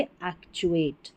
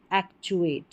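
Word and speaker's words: actuate: तो बोलेंगे एक्चुएट। एक्चुएट।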